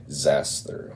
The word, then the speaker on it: Xasthur: in Nashville Tennessee and it was the band zaster which uh x a s t Hur is how that's spelled and if you're not familiar with them